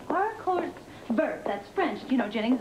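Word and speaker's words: haricots verts: and I told them the H is silent it's our Co ver that's French you know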